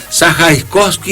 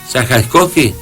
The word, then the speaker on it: Zajaczkowski: Mario, voy a decir, lo pronuncio bien, Sajaiskowski, ¿está bien? Sajaiskowski. Sí, señor.